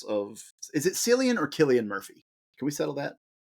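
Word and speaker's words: Cillian: It is Killian. Okay. Now, you will hear so many references to Sillian. Now, the only reason Killian is correct is because I've heard him say his name.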